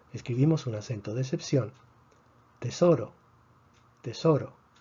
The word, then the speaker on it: tesoro: Tesoro tiene 3 sílabas, tesoro, termina en una vocal. Predecimos que el acento debería estar en la penúltima sílaba. Si está en la penúltima sílaba, no escribimos el acento de excepción.